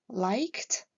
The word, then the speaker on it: liked: Like et work se terminant par le même son, qui est un son sourd, la prononciation de la terminaison ed sera donc t, liked, worked.